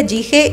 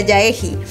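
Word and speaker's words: Jaehee: di cuenta de que su nombre creo que no se pronuncia gige y le empecé a decir ya egi Y prefiero yaji creo que así se pronuncia yaji Entonces el segundo chat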